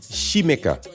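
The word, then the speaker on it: Xaymaca: It's shimika. It's sh hi.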